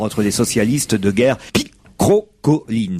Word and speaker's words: picrocholine: Et effectivement, Claude Allègre a qualifié les rapports entre les socialistes de guerre picrocolline. Ça s'écrit P-I-C-R-O-C-H-O-L-I-N-E-S. Mais on ne dit pas picrocholine.